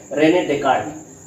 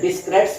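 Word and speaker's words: René Descartes: अगर तुम स्पेलिंग पे ध्यान दो तो बेटा इसकी स्पेलिंग है RENE, रेने DESCARTES। तो अगर पढ़ा जाए तो डिस्क्रेट्स पढ़ते हैं, लेकिन भाषा के रूप में हम लोग इसको रेने डेकार्ट ही कहा जाता है।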